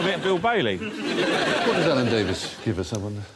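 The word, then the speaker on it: Alan Davies: What does Alan Davis give us, I wonder? Doesn't really rhyme with anything apart from Mavis. Unless you know someone called Mavis.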